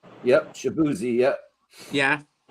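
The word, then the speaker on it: Shaboozey: Um I'm going to pronounce this completely wrong. Shabuzzi. Yep. Shabuzzi.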